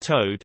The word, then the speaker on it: Tode: I was almost named Gertrude or Tode, pronounced Toad, and my brother was almost named Jedediah or Hartzell.